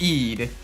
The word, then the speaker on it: Eid: Okay, it's pronounced Eid.